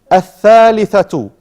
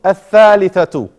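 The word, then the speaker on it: الثَّالِثَةُ: If you see the shadda after the lam, that shows us we don't pronounce the lam. You only pronounce the alif. As-sakanu. Ash-shamsu. Al-thalithatu. Just like here, on the top. Al-thalithatu.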